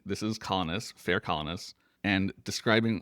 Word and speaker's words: Colonus: is the next track, Fair Colonis or Fair Colonus as he sings it, which I think is it made me go, "Wait, have I been saying it wrong?"